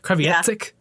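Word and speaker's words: Kreviazuk: I can never say her name properly. I used to think there was a... Okay, good, because I used to think there was a T in it. Kreviazek.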